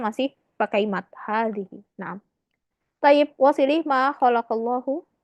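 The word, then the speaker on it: هذه: Cukup ditulisnya waw satu aja, tapi dibacanya tetap Dawud. Kayak hazihi.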